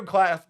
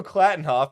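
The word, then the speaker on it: Klattenhoff: okay other good news about this episode Diego class Diego clattenhoff there we go pronunciation is clearly my strong suit directorial debut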